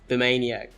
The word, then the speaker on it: Bimaniac: with a Japanese card, he put the card name in katakana, and it was actually pronounced Bimaniac.